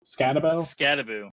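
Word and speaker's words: Skattebo: And it's Cameron, how do you pronounce that? Scatabo? Scattaboo.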